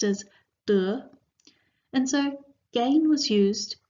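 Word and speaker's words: 德: as virtue in fact virtue and gain in Chinese share the same pronunciation they're both pronounced as du and so gain was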